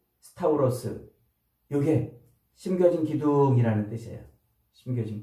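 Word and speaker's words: σταυρός: 열십자 그래서 십자가라고 번역하지만 이것은 스트라스타 스타우로스 이렇게 이제 발음을 해요 헬라어로는 스타우로스 요게 심겨진 기둥이라는 뜻이에요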